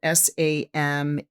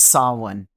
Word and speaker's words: Samhain: soloin but it's spelled s-a-m-h-a-i-n so it makes you want to say samhain samheen right but it's saw one and it catches me